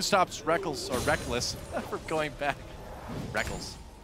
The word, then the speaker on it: Reckles: Technically, it is written Reckles. Yeah. It is. You spell it phonetically. All the way back in his first major tournament, IPL 5, the Reckles and Reckless debate was in full swing. I still want to call him Reckles, but I've just gotten so used to calling him Reckless because he says so.